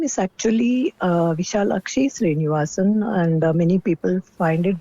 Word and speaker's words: Vishalakshy Srinivasan: My name is actually Vishalakshy Srinivasan, and many people find it difficult to pronounce that.